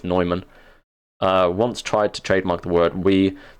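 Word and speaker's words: Neumann: proof we works oh Adam Adam nyman or Newman I don't know how you guys pronounce It in America I think technically it's nyman uh once tried to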